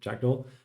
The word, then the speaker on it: jakkdl: Or I often told it rhymes with fractal, so jakkdl.